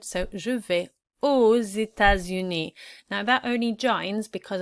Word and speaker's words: aux États-Unis: It's pronounced the same, we don't pronounce the X at the end, so je vais aux États-Unis.